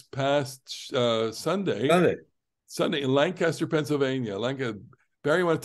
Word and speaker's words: Lancaster: is to remind you that Lancaster does not remind does not uh rhyme with disaster Lancaster not Lancaster as the natives um Lancaster Lancaster okay and um it was